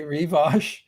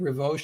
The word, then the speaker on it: Rivoche: pronunciation guide so uh some people say revos and I I started saying revos because I thought it sounded more I just more dignified or something I don't know so